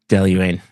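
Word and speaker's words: Dailuaine: Daluane.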